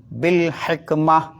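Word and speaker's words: بالحكمة: അവിടെ നിങ്ങൾ സ്റ്റോപ്പ് ചെയ്യുകയാണെങ്കിൽ ബിൽ ഹിക്മ, ഒരു സാധനം താഴോട്ടിട്ട് ഒരു പ്രതിധ്വനി ശബ്ദം ഉണ്ടാവില്ലേ, ഹ, ആ ശബ്ദത്തിലാണ് നിർത്തേണ്ടതെന്നാണ്.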